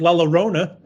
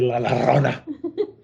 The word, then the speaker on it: La Llorona: all day, weeping like La Llorona. She's wandering the orchard, weeping for her children. Did I say it right? No. Are you mad because I didn't say La Llorona? Rona. La Llorona. Llorona. Llorona.